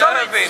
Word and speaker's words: Irvine: It's a silent E, it's Irvine.